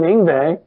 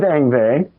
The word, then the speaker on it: Yngwie: I mean, so far anyway, I haven't done Yngwie. You can pronounce his name.